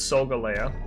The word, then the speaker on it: Solgaleo: don't say solgaleo it's solgaleo it's like galileo and seoul so galio i know